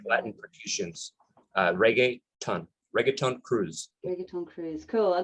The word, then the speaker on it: reggaeton: Reggaeton Cruise, is that right? Reggaeton. Think of reggae, right? So reggae, the music is with T-O-N, which reggaeton would be the kind of Caribbean, Hispanic way of stating in that